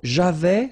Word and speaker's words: j'avais: So j'avais, final S not pronounced.